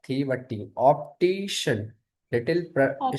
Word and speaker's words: optician: Not the but optician.